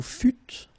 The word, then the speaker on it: fûtes: Vous fûtes, same thing.